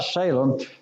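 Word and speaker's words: Salim: John sprinkled back people in Anan near sight Salem because there was much water there the word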